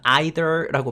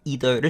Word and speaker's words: either: 이렇게 either이라고 발음해도 되고 아니면 either라고 발음해도 되고 편할 대로 하시면 됩니다. 영어에 to라고 하는 단어가 있습니다. 도라는 뜻인데 to랑 뜻이 같은 말입니다. 근데 언제 to를 쓰고 언제 either를 쓰냐?